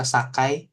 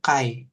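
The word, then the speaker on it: 境: Nah, ini dibacanya bisa sakai, gitu ya. Kalau berdiri sendiri sih sakai, berdiri sendiri bacanya, gitu ya. Tapi nanti dia bisa jadi dibacanya itu kai.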